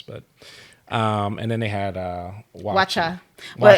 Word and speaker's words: waakye: But and then they had Wacha. Well, it's spelled WAAKYE. So wacha doesn't look like wacha, but it's It's like a beans and rice type dish.